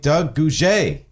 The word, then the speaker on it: Gouger: Sadly, Doug Gouger had to leave, and in his place is somebody named Doug Gouger. Because apparently I've been saying his name wrong the whole time, and he very kindly